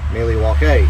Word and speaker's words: Milwaukee: So, get out the old Milwaukee bioscripts or actually as Al Cooper said, that's originally pronounced Milliewake, which is along for the good land.